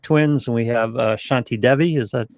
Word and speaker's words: Shanti Devi: have the pawlik twins and we have uh shanti devi is that pronounced right yes so are we assuming that